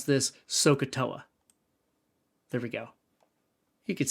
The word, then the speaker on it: SOHCAHTOA: And you can imagine, using this, and you would pronounce this SOHCAHTOA.